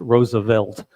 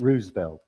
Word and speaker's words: Roosevelt: Roosevelt and vary things and he writes this fairly funny letter saying it's Roosevelt. Three syllables. Not Roosevelt. No, not Roosevelt.